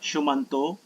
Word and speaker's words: shumanto: Uh it pronounced as it's pronounced as shumanto. It's a sanskrit words. It's a weird Sanskrit word.